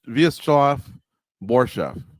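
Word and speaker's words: Vyacheslav Borshchev: Vyacheslav Borshev.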